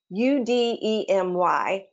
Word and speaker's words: Udemy: to start is a site called udemy it's u-d-e-m-y but it's pronounced udemy and you to me right now is one of the most popular